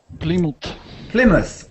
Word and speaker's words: Plymouth: It looks like ply because plywood is a kind of ply. And that's ply, but this is not ply, it's pli. Plymouth.